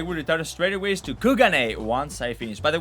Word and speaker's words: Kugane: Worry not, I will return straight away to Kugane once I finish. By the way, that's how you pronounce it. Don't take my word. An NPC said it in Sherleyan. They said it's not Kugane, it's Kugane.